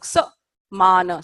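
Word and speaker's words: समान: this is too much so in Sanskrit there is no syllable stress it's either long or short soprano da yan is all long here you have a short and along sir mana saman okay so saman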